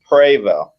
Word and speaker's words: Prevost: Is it pronounced Prevost? It's actually Prevost.